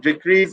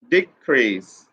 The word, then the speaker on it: decrease: is noun here be here you have to put pressure on fast syllable decrease decrease decrease this is the pronunciation and in the later word you can see this is a verb and you have to put pressure on the last level decrease decrease decrease here